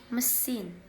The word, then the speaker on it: machine: symbol men and finally the a in the word machine is pronounced as a very weak indistinct sound represented by an upside down e machine another problem for learners